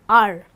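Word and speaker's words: hour: like honest and are where H becomes silent and we pronounce it as honest and our okay we use the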